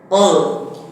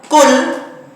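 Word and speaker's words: قل: itu berbeda fatal artinya yang Qul pakai Kaf lalu lam itu Katakanlah yang pakai Kaf kul itu Makanlah jadi salah pengucapan satu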